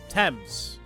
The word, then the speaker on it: Thames: It's not Thames. It's pronounced differently. I thought it was Times. Thames. Thames.